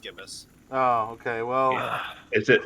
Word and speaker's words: gibbous: you knew the trumpet i looked it up that's why it is just gibbous okay is it i always thought it was gibeous oh let's give it